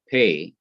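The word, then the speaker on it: פ: as we see here, it is called Pay, and it is to be pronounced as P or P, such as in path.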